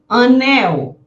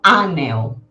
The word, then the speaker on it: anel: Anel. Eu não digo anel, né? Eu digo anel. Mel, mil, anil, fuzil. Lembrando que as palavras que terminam com L eu pronuncio como se fosse um U, né?